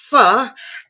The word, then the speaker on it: pho: It's pronounced pho, as if you were going to say pho, and your mother stopped you quick. So you only got the pho out, okay? So Lynne was right.